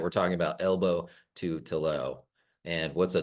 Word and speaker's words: Tillaux: kid but uh but it rhymes with elbow and so that's why